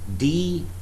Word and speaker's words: doubt: For example, there is a word D-O-U-B-T. It is spoken, it is pronounced as doubt. There is B sound.